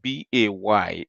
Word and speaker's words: Bey: And when you say it is not B-A-Y, it is B-E-Y.